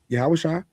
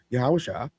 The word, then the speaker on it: Yahawasha: But I can tell you beyond a shadow of a doubt, yes, Yahawasha was that's how you actually pronounce the name, by the way, for those in the know. Yahawasha TZ existed.